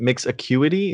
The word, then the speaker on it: Mix Acuity: So let's talk about is it Mix Acuity? Is that how you pronounce it? Yeah, yeah. Awesome, awesome. So Mix Acuity, how does it work, and what is the